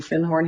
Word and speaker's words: Findhorn: And I said, do you have anything on Findhorn? Because I'd found a book called The Magic of Findhorn. And he corrected my pronunciation. He said, you mean Findhorn?